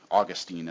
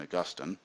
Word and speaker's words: Augustine: like Augustine here this is St Augustine or Austine as he some as he's usually known I prefer the pronunciation Augustine he never learned Greek or least not very